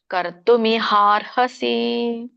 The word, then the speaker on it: ಕರ್ತುಮಿಹಾರ್ಹಸಿ: ಹೇಳಲಿಕ್ಕೆ ಬರಲ್ಲ ಕೂಡಿ ಹೇಳೋರು ಕೂಡಿ ಹೇಳಿ ಕರ್ತುಮಿಹಾರ್ಹಸಿ ಮಿಹಾರ್ ಇಮಿಹಾರ್ ಹೇಳಿ ಆಮೇಲೆ ಹ ಹೇಳಬೇಕು ಕರ್ತುಮಿಹಾರ್ಹಸಿ ಇದರೊಂದು ಅರ್ಥವನ್ನ ತಿಳ್ಕೊಳ್ಳೋಣ ತಸ್ಮಾತ್